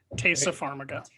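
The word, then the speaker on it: Taissa Farmiga: know dexter um and i'm not going to pronounce her name right uh tysa farmiga tasa pharmaca thanks taylor you're always here to correct my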